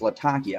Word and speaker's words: Latakia: Latakia you know Latakia I'm gonna change my pronunciation of that because that is the name of the city where it comes from it's Latakia I don't know why